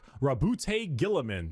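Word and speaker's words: Roboute Guilliman: Primark Rabbout Gillamin. That's how Yeah, that's how it's said.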